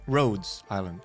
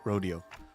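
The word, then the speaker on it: Rhodes Island: Also, sorry, it's Roads Island, not Rodeo.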